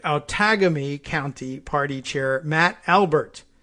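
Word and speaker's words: Outagamie: It's Outagamy, like autogamy. What do you think it is?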